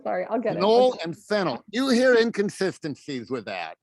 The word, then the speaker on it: phenyl: okay if it's okay so if it's as a substituent it's fennel yeah okay perfect okay so